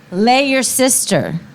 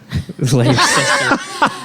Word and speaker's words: Leicester: How do you pronounce that town? Okay. Lay your sister. Leicester.